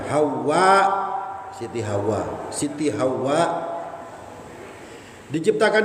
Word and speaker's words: Hawa: Cara bacanya dibaca pakai mad panjang. Hawa.